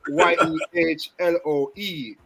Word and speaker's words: Yehloe: Yehloe.